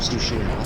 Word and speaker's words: Tsushima: It's pronounced Ghost of Tsushima.